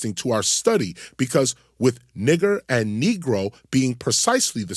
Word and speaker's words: niger: N-I-G-E-R can only be pronounced in Latin as nigger because the Latin G was always pronounced hard, as in go. It was never pronounced soft, as in gentle.